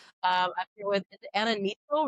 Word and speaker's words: Neitzel: Um I'm here with Anna Neitzel, right? Neitzel, yeah. Neitzel, okay. See, I never know how to pronounce it.